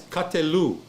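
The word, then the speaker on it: קָטְלוּ: So it's katelu. They killed katelu. She said 3 CP. Is it one? Yeah, 3 CP. Yeah, that's one. So the sufformative, the ending is a shurek. This is a vav with a dot in the middle. That's a long u.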